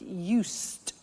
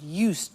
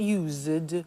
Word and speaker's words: used: listen to the pronunciation I said used with t sound used not use it or you said used